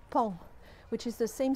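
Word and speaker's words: paon: pronounce in french because it's spelled p-a-o-n but it's pronounced pong which is the same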